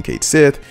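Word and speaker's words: Cait Sith: what sparked that basically the ff7 Twitter made a tweet which was like this is how you say this character's name that character being Kate Sith and they had it spelled out you know phonetically like Kate Sith I'll have the Tweet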